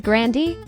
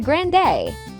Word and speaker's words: Grande: Ariana Grande's last name isn't pronounced the way you think it is in a 2018 interview with apple music Ariana Grande shared that her grandfather pronounced their Family's last name as Grandy her brother suggested the change to Grand day because it sounded more fun of course this pronunciation caught on though Ariana regrets not sticking with the original number nine Abel tesfay